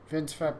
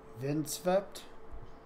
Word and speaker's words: Vindsvept: Vindsvept? He used to live stream, but he hasn't lately. Okay, let's do these. The E in Zvept is longer.